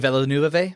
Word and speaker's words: Villeneuve: Denis Villeneuve? Villeneuve. He's like French or something. You know how they don't pronounce all their letters.